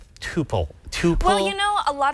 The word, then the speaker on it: tuple: ways you can say topple you can say to pull it doesn't matter both are accepted and this is one